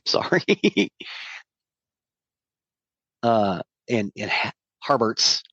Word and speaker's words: Harberts: sorry uh and and harberts harberts I keep want to call him Herbert but it's harberts uh came on for